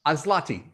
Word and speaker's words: Aslatei: His name is Adam Cohen-Aslatei. Proper pronunciation? Azlati, close. Azlati.